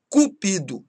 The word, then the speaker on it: Cupido: Cupido é o deus do amor e cúpido é ávido ou ambicioso.